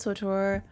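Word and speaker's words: SWTOR: SWOTOR is marketed as rhyming with KOTOR.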